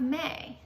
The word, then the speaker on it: May: I would say that A-Y together A-Y is a long A spelling pattern. A-Y together makes A, okay?